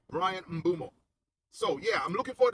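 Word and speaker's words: Bryan Mbeumo: Brian Mumo. All right. Brian Mumo.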